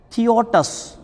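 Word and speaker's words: θεότης: یونانی وہ لکھا ہے، جس کا تلفظ انگلش میں جو بتایا جاتا ہے وہ ہے تھیوٹس، جس کی ادائیگی کی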